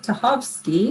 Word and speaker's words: Tachovsky: Well, Cynthia Kraack is one of our guests, and Joseph Tachovsky, I pronounced that right, didn't I? Correct.